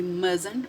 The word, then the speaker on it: mustn't: check the answer we mustn't talk during the test once again do not pronounce this letter Chi okay and also this letter L mustn't talk during the